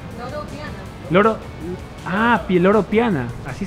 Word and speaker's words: Loro Piana: Sí, ¿cómo lo pronuncia? Loro Diana. ¿No? ¿Es una D? ¿Es una P? ¿Dónde P? Loro Piana.